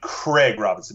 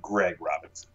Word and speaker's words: Craig Robinson: Yeah, I did Craig Robinson, not Greg Robinson. He would always get pissed at me because I'd say it wrong.